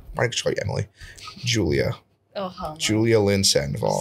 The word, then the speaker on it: Julia Lynn Sandoval: coming in uh my next story Emily Julia Julia Lynn Sandoval say my name and say it right Julia Lynn Sandoval is that correct Julia Lindsay Julia Lynn Sandoval spell it j-u-l-i-a space l-y-n-n space s-a-n-d-o-v-a-l yes